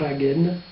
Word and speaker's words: Hagen: Un Pickendorf, le premier, Octavius, c'est le sujet du premier livre, nommé commandant à Hagen, que l'on prononce en roulant le R, nous dit Jean Raspail,